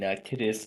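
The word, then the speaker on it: Kittitas: Ah, overpass got damaged by a truck in Kittis County, Washington. That's how it's pronounced.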